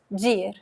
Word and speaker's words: de ir: De ir, we just say dir.